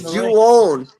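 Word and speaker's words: João: It's Juon. No, Joao. No, when you pronounce a Brazilian person name, it's Juon.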